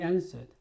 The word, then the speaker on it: answer: He answered. 그는 대답했다. answer, 대답, 대답하다. W가 소리가 안 나죠? 그래서 answer라고 발음합니다.